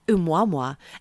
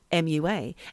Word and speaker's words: Oumuamua: I know I'm saying it properly because I Googled it. Oumuamua, and it's spelled Oumuamua, and I think it's a Hawaiian word, and I can't remember what it means.